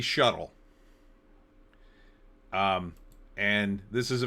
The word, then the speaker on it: SHTTL: A shuttle normally spelled with an e sh e tl. For some reason they left off the e. I think it was a huge mistake. I think the normies will pronounce that in a different way. And it won't be shuttle.